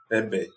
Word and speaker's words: Egbé: Que escrita Egbé, mas que a gente pronuncia no iorubá Ebé.